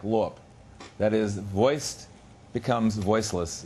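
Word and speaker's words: лоб: And the B in lob sounds like lop.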